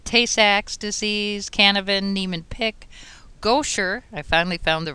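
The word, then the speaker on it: Gaucher: about 21 but tasac disease canovan Neeman pick goer I finally found the right way to pronounce it familial disautonomia Bloom syndrome con anemia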